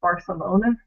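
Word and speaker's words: Barthelona: And oddly enough, it just so happens that it comes from a sample I got from Catalonia. So, you know, place where Barcelona is and how it would be pronounced in Spanish.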